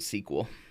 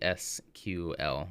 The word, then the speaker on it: SQL: you pronounce it well I only just learned recently that some people don't pronounce it squel that some people yeah some some people pronounce it the SQL yeah yeah yeah I